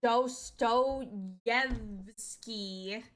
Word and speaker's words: Dostoyevsky: It's pronounced Dostoyevsky.